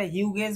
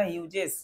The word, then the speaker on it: Hughes: এটা হিউগেস বলবো না, হিউজেস। জিএইচ বর্গীর জয়ের উচ্চারণ হচ্ছে। আচ্ছা, ট্রু ফ্যামিলি মানে কি আমরা এটা খুব সুন্দরভাবে আজকে বুঝবো।